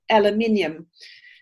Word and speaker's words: aluminium: my horse's shoes and saying the word aluminium, and you corrected me and said, how do you say it? Well, here in the US, we call it aluminum. And then I wrote it down and I went, actually, I can see how we both pronounce it.